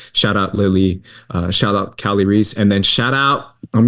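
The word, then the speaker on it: Kali Reis: Oh, Cali Ree.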